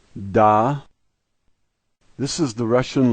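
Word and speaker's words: да: The first letter is de, and the A is pronounced like our A, and so this word is da.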